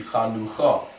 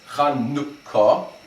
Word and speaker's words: Chanukah: But it's not pronounced Chanukah, then it would be Chanucha, and there'd be no dot in the kaf, no dagesh. Instead, it's Chanukah, and it's a short U sound, Chanukah. And that also explains why proper English transliterations, there's two K's in Chanukah, Hanukkah.